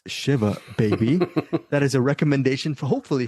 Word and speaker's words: Shiva Baby: I said it was Shiva Baby, but it's Shiva Baby.